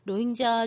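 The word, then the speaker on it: 로힝야: 주민 되기 사는데 그 빈 족을 로 인자 주민이 라고 읽어요 아 예약이 해요 로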